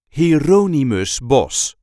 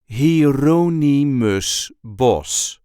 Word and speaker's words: Hieronymus Bosch: The correct pronunciation is Hieronymus Bosch. Hieronymus Bosch. There is a light emphasis on the second syllable of his first name, Hieronymus Bosch.